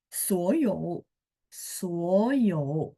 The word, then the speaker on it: 所有: Kemudian 所有，所有. Nah, kalau ini 3 ketemu 3, mungkin teman-teman sudah hafal di mana huruf depan berubah jadi nada 2. Bacanya saja, tulisannya tetap 3-3 ya.